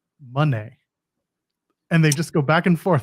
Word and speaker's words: Moné: And then he proceeds to explain, the way it's been explained to me is that it's pronounced Moné.